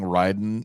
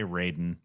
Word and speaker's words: Raiden: workout yeah amen why does paul keep saying ryden isn't it spelled ryden yeah it's spelled like oh my god dude they want you to say raiden i know the mortal